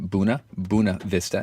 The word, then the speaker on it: Buena Vista: That's right, Buena Vista, even though it's spelled Buena.